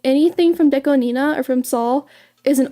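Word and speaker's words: DECO*27: Deco 27 or Deco Nina. That's actually how you say it, fun fact. It's Japanese. 2 is ni in Japanese, and Nana is 7. So Nina.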